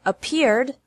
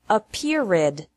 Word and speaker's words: appeared: of appear is appeared appear has two syllables and appeared also has two syllables don't pronounce it a period with three this is